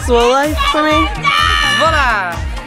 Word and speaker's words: Zwolle: Zwolle. Zwolle. Zwolle. Zwolle. Oh. It's Zwolle. Yes, MK? It's Zwolle. Zwolle. Yeah. It's a little bit less emphasis on the Z.